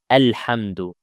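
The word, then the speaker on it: الحمد: The word alhamdu comes at the beginning of the ayah, so we have to apply it. But the second letter is lam, so it's with a fatha. A alhamdu.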